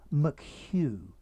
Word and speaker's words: McHugh: detective chief inspector noel mchugh hugh notice the pronunciation of this name hugh many people get it wrong one of the mets